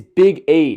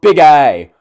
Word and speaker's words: Big E: names why is it it's big E it's not big I okay it's it's not